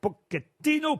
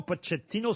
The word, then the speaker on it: Pochettino: saint germain qui s'appelle pochettino putsch et tino ça dépend comment où les deux prononcés moritz sur petit in